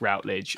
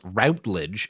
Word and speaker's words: Routledge: If it's the same as the academic publisher, which is spelled the same, then it's Routledge.